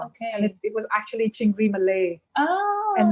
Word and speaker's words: Chingri Malai: And it was actually Chingri Malay Oh. and not Chingri Malai, but Indians started calling it Malai because that's how they pronounce things phonetically.